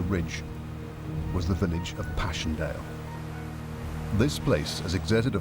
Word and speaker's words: Passchendaele: but also because of its unusual and poetic English pronunciation, Passchendaele.